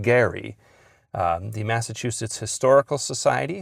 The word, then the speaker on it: Gerry: According to the family and according to uh residents of his hometown, it was he pronounced his name Gary.